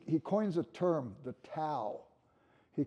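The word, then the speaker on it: Tao: coins a term the to he could you say da if you want but to is how I pronounce it and he uses an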